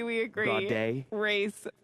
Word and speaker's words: Gaudet: Gaudet. Race 4. What did they say you were supposed to be? Your last name was supposed to be pronounced? Goudet. Goudet. When you're down in New Orleans.